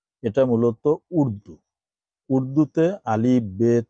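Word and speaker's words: بے: যেমন বা, এটা উর্দুতেও আছে, আরবিতেও আছে। আরবিতে যখন পড়বো আমরা তখন পড়বো কি বা, আর যখন উর্দুতে পড়বো তখন পড়বো বে।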